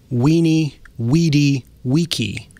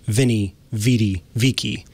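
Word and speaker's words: veni, vidi, vici: of interesting is that v in latin is pronounced it's pronounced like it's a w and so there's that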